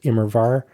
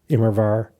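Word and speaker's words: Immerwahr: Uh, it's the W is pronounced as a V. So, it is Imrvar. Imrvar.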